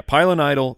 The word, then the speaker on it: pilonidal: season he developed a i'm going to try and say it right pilonidal yeah pilonidal cyst which is that is correct that is a cyst